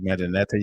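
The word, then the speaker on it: Mdw Ntr: And that's spelled Medinata. You can Google that as well or research it. MDW space NTR.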